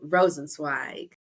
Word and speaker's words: Rosenzweig: founder of the birth parents finder Mr J rosensweig KJ thanks Tasha and thank you for pronouncing my last name correctly because you know